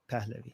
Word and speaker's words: Pahlavi: Pahlavi.